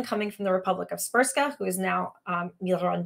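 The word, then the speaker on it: Srpska: called Republica spa and you heard that right the Bosnian language um seems to have no vowels as most of the Slavic language do it's spelled spsk so established this semi-autonomous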